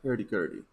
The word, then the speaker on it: hurdy-gurdy: Hurdy-gurdy, am I right? Yeah, in Spanish we call it sanfona. Hurdy-gurdy. Hurdy. Okay. Am I East X Twitch? Am I saying it right? Hurdy-gurdy.